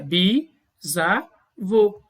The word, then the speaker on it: bisavô: A pronúncia seria bisavô.